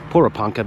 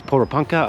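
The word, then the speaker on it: Porepunkah: I said Poranka before that we just spoke to a local and they told us how to pronounce it. So apparently it's Pora Panka.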